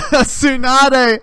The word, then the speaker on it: Tsunade: is secretary sanade and it's spelled like sunday with a t at the beginning like tsunami like it's so dumb it's a tsunade and it's just sunday